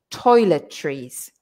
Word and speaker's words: toiletries: everybody can say but then we say trees so like like like like trees in a forest toiletries toiletries okay because that's a